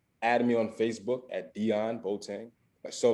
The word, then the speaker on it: Deion: uh you can add me on facebook at dion botang so like you can spell it just like dion sanders that's d-e-i-o-n then